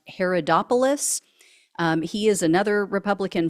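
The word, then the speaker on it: Haridopolos: Downing of Montana Mike I think his last name is pronounced Herod opoulos um he is another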